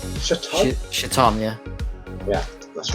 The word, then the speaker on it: Chthon: origin of, I don't even know how to pronounce this, is it Chaton? Chthon? Chaton? Chaton, yeah.